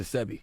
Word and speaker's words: Sebi: Sebi. Dr. I thought it was Sebi. That's Sebi. See, my bad, I said it wrong.